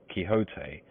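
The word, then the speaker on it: Don Quixote: Misfortune to know that the gentleman's name is pronounced kote when ignorance from out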